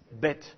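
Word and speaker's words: ב: c'est la lettre bê cette lettre-là elle se prononce B normalement donc la prononciation est dite occlusive dans le sens où je ferme la bouche je laisse pas passer l'air et d'un seul coup j'ouvre bête mais que se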